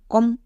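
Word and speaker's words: comb: বাট এরপরে বি কেন বসলো সি ও এম কম হয়ে গেল এরপরে বি বসাবার দরকার আছে কি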